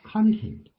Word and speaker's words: content: When they returned home, they were exhausted, but content. Content. Content. Right. So the emphasis is on the second syllable, content.